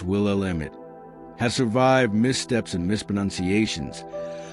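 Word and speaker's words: Willamette: Its name, pronounced will emit has survived missteps and misprononunciations, but still flows with quiet pride to the heart of the state.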